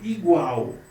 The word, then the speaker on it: igual: Igual, ou é igual? Você fala igual ou igual? O igual é a sílaba mais forte, então é a sílaba tônica.